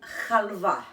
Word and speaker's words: halva: I'm not sure of the pronunciation, but the way Greeks pronounce it is halva.